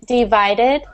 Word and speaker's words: divided: um trying to think oh here's a one with a harsher D sound at the end divided divided one of the only times you say like the Ed part so divided divided yeah